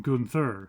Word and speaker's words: Gunther: pronounce this right because the Germans would probably pronounce it as Gunther, but Americans generally say Gunther, so they've kind of gone with a compromise, and they generally call him Gunther.